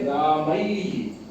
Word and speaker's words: रामैः: तो इसके अंत में वास्तव में आई के अंत में ई दिया रहा है, तो इसके उच्चारण में इसीलिए रामैहि रामैहि रामैहि गुरोः गुरोः गुरोः गुरोः और गौ में गौः गौः, इसमें ऊ आ जाएगा।